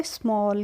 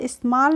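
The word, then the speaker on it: small: एल हमारा हो जाएगा स्मॉल क्या हो जाएगा स्माल नहीं पढ़ते हैं इसको हम पढ़ते हैं स्मॉल नेक्स्ट फ्रेंड्स है हमारा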